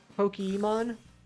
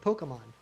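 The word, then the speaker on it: Pokémon: I think I say like polka. Like Pokemon. Like a regular A, not even like a hard A.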